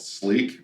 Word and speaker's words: SLIQ: So the second product that we came out with was a product called Sleek, which is spelled SLIQ.